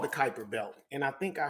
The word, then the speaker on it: Kuiper: And he keeps calling it the Cooper, but maybe that's a pronunciation of it from his country. But it's a Kuiper Belt, right?